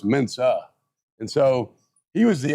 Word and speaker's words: Mensah: lot of people didn't even know how to pronounce his last name properly. Everybody called him Mensah.